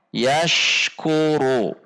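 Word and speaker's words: يَشْكُرُ: Seperti contoh yashkuru, yashkuru. Antara bunyi ash dengan bunyi ku tidak terjeda atau tidak terpisah. Yashkuru. Contoh yang terpisah adalah yashkuru, yashkuru. Seharusnya dibaca yashkuru, yashkuru. Ashku, ashku, tidak terjeda.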